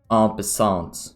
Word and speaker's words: en passant: There's a rule in chess that's called en passant, or how they say it in English, en passant.